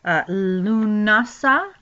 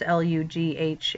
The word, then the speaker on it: Lughnasadh: awareness of the trumpets, preceded by Lunasa. It looks very different, of course, Lughnasadh.